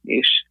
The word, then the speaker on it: niche: product or solve a niche problem for a very small user base at first. And I'm pronouncing that the Canadian way, niche instead of niche.